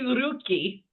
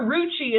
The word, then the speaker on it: Rucci: It should be rookie, but we'll get we'll get there. We'll we'll we'll cross that bridge when we get there or brig brig. Your uh your roocci is like saying bruschetta.